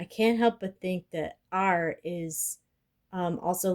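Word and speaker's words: 二: Um and that the way that it's pronounced is R.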